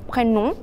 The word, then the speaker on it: prénom: Y hay que tener cuidado con la pronunciación N-O-M de prénom porque es una O como más, no es nuestra O, es una O más nasal, prénom.